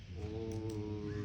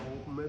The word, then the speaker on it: ओम: आप कर सके अच्छा ओ में भी ये है कि ओम जो है वो तीन शब्दों से है उ और मैं तो जैसे अ की